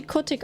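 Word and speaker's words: котик: K ist ein K. O ist ein ist ein O. T ist ein T. Es wird wie Kotik ausgesprochen.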